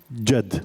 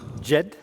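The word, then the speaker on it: جد: Jed. Jed?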